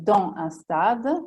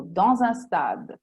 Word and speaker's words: dans un stade: preposizione e in questo caso si può dire dans un stade, in uno stadio, o dans un stade, che io preferisco.